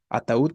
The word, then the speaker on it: ataúd: bueno independientemente de eso ataúd sigue siendo una palabra aguda se tilde o no se tilde por su sílaba tónica es aguda obviamente sabemos que